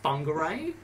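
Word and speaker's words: Whangārei: actually spelt w h n but it's actually pronounced fungi ray and same with our whakatani it's wh what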